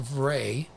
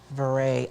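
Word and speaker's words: vrai: So it's pronounced Vray. Vray.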